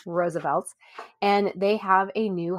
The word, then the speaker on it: RSVLTS: And so Roosevelt's, which we've talked about before on the show, but if you're unfamiliar, Roosevelt's is spelled capital RSVLTS, pronounced once again, Roosevelt's.